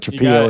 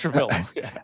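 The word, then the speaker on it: Trapilo: it's like and we I got to remember how to pronounce that. Are we saying that right? Is it Trapo? Is it Trapillo? It's Trapillo.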